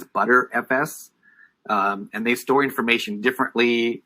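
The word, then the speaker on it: Btrfs: here is bt rfs as people pronounce it as butter fs and they store information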